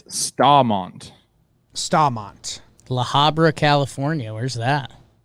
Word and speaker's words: Staumont: Some of the YouTube is littered with people saying Stow, S-T-A-W, Mont, and S-T-A-H, Mont, Staumont. So I still don't know. I would say Staumont then.